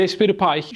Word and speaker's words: Raspberry Pi: Ayrıca şunu da söyleyelim raspberry Pie rasper Pie şeklinde okunabiliyor yani birçok farklı okunuşu var diyebiliriz Aslında bazen rasper Pie